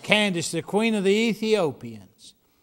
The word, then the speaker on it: Candace: Do you see three syllables there? That there's not the way you say it in hillbilly. In hillbilly, you say that Candace. Okay, so we'll teach them how to pronounce it.